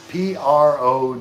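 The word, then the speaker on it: pirogue: A pro is like it's p r o g u e is how it's spelled, but it said pro.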